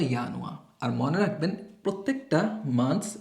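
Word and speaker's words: Januar: জানুয়ারিকে কি লিখতে পারি আমরা? ডচে ইয়ানুয়া। এটাকে বলে ইয়ানুয়া।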